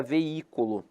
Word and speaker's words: veículo: É a palavra veículo, porque ela é separada assim, ó, V-I-C-U-L-O. Aí aqui tem um hiato? Tem.